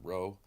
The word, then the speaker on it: Rho: is a P but it's actually the Greek letter Rho and it's like roll Randy you know Rand Paul whatever that's the Greek letter